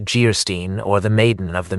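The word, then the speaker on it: Geierstein: Anne of Guystein pronounced Geerstein or the maiden of the mist by the author of Waverly.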